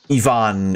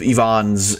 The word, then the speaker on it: Ivan: find a shitload of Ivans in any fucking... in any fucking, like, Slavic country. So, yeah. In Spanish, we pronounce it like Evangelion. So, Ivan, then. That is how you pronounce it.